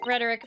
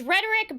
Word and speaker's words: rhetoric: It's fucking, it's like, it's rhetoric, but also, like, I keep thinking it's rhetorical question, but the fucking word changes when it's just rhetoric.